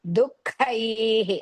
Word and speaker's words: दुःखैः: So whenever ka, small or big ka comes, we use half ha, you have to use, and kai, mahaprana, and then dirga. So you have to pronounce dukkaihi like that.